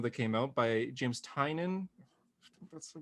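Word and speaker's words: Tynion: a new comment that came out by james tynan that's the pronunciation called a nice house and my boy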